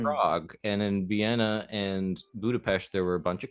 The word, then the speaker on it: Budapest: to Budapest and then which is pronounced Budapest oh